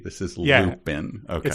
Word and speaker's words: Lupin: And this is spelled as though one is looping into something without the G. This is Lupin.